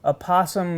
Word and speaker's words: opossum: eye it's called proper opossum massage and I was doing some research all you need to do the oh no I looked it up Oxford English Dictionary says you do pronounce it and he says in